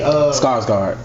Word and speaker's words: Skarsgård: I mean, Skarsgård.